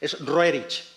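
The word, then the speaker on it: Roerich: este señor Nicol rer yo lo pronuncio en ruso es rerich pero no me Y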